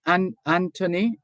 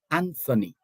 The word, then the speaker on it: Anthony: And it's the same thing with Anthony, Anthony. The H is silent.